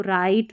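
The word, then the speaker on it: write: जब डब्ल्यू और आर साथ में आते हैं ना तो डब्ल्यू साइलेंट रहता है। जैसे इसको राइट रॉन्ग पढ़ेंगे।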